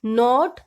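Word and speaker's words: knot: बाद एन आए तो किस साइलेंट रहता है लाइक नोट 9 इन सब में हम देख रहे हैं की के के बाद एन ए रहा है तो इसमें हम के की वास नहीं लेंगे इसको हम सीधी बोलेंगे नोट नहीं बोलेंगे नोट नेक्स्ट वर्ड इसे साइलेंट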